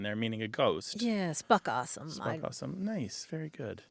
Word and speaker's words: spookasem: There's a South African term that's spelled Spookasem, and it's pronounced spuckawesome. Spokawesome.